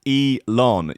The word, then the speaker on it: Elon: like some people got annoyed they're like it's pronounced e lon didn't like spelling it out phonetically for me